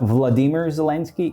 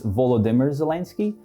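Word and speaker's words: Volodymyr Zelensky: set the record straight it's not vladimir zelansky it's volodimer zelansky i don't know why but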